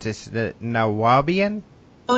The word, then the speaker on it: Nuwaubian: book on, and I'm not sure how to pronounce this, the Nuwaubian? Oh, Nuwaubian, yes.